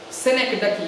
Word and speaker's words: synecdoche: There is a CH here and there is a C here. Both are pronounced as K. This is synec and this is doche. This is not doch. This is not ch. This is not pronounced as ch here.